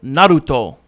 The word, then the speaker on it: Naruto: in the show it's with the accent they go Naruto that's how you say it in Japanese yeah Naruto but oh